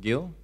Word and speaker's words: Gil: Should I pronounce it Gil?